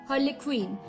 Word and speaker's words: harlequin: harlequin, HARLEQUIN, harlequin, HARLEQUIN, harlequin।